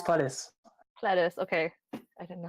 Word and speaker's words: Pledis: Yeah, and it's Pledis.